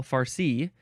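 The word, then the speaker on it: farci: not all the time next is fari emphasize the second syllable fari f a r c i or you can put an e at the very end it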